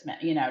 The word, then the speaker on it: Smythe: I mean, I've seen Smith with a silent E at the end. Yep. Like it looks like Smythe, but it's Smith.